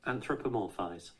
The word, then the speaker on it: anthropomorphize: Anthropomorphize.